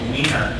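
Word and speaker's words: Weiner: That would be Wiener. Wiener, okay. I wasn't sure about the politically correct pronunciation.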